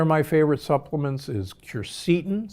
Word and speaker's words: quercetin: Another of my favorite supplements is quercetin, sometimes pronounced quercetin.